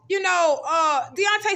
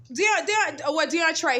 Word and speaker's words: Deontray: She's telling him, Deontay, stop. Deontray, his name is Deontray.